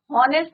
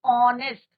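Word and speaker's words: honest: Similarly ऑनेस्ट, हॉनेस्ट नहीं होता, इट इज नॉट हॉनेस्ट, इट इज ऑनेस्ट। Clear, H is your silent.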